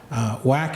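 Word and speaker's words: WACC: cost of capital or whack as the acronym is pronounced when is it not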